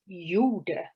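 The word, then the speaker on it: gjorde: the word for did which is pronounced pretty much like yoda from star wars my eyes shifted from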